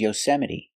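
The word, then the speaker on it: Yosemite: beans y y y the stress is on the second syllable y y y National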